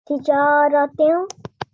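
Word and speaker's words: تِجَارَةٍ: So how should it actually be pronounced? Tijaratin. Excellent. Nasal sound.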